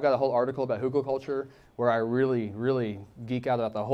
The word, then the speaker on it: hugelkultur: things, like I've got a whole article about hugelkultur where I really, really geek out about the whole thing, and it's a long article.